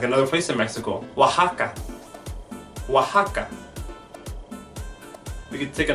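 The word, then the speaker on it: Oaxaca: have other places like another place in Mexico wah Hakka Hakka we could take a look at names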